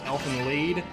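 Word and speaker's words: Elfen Lied: I've also been told it's pronounced Elfen Lead. That is a ridiculous pronunciation, if you ask me.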